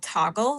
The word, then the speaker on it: Toggl: tracked my work time in an app called Toggle. It's spelled Toggl if you want to check it out.